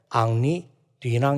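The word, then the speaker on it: 앙리 뒤낭: 에서 1910년까지 살았던 사람인데 이 사람을 이제 프랑스 식으로 발음을 하면 앙리 돼 낭 이라고 하는 사람입니다 지금 화면에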